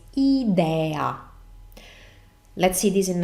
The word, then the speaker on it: idea: so in English it's idea in Italian as I was saying we pronounce vowels always the same way so it's idea let's see this in